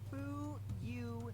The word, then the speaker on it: Fuyuhiko: My first name is pronounced Fuyuhiko.